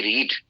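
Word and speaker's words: read: लेकिन जब इसको फर्स्ट फॉर्म की में यूज करते हैं तो रीड प्रोनाउंस करते हैं। लेकिन सेकंड फॉर्म में जब यूज़ करते हैं तो इसको रीड नहीं बल्कि रेड प्रोनाउंस करते हैं। तो ये हम पास्ट इंडेफिनेट कर रहे हैं। जिसमें वर्ब की सेकंड फॉर्म यूज़ होती है। तो यहां पर इसको हम रीड नहीं बल्कि रेड प्रोनाउंस करेंगे।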